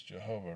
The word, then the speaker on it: Jehovah: u being a v the letter v is the other disputed consonant in jehovah the valve is pronounced like a v in a vehicle rights professor mark elaine